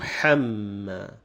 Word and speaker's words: حَمَّا: H sound, and then the ha, the coarse or the heavy H sound, and they come together here. So a person may have the tendency of mispronouncing them since they come together. So we have to be careful here. Is وَامْرَأَتُهُ حَمَّا. So hu, ha. First you have this light H sound, and it stretches